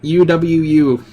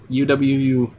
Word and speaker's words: UwU: OW, or UWU. That's how you say it. UWU.